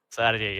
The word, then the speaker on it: Sardey: Sarjay, lo pronuncié bien, ¿no, David? Sarjay, así es, así mero.